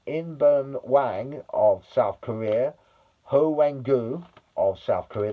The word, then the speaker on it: Hwang Ui-jo: Julian Quiñones of Mexico, Raúl Jiménez of Mexico, uh In-beom Hwang of South Korea, Hwang Ui-jo of South Korea. That's his correct uh pronunciation, Hwang Ui-jo.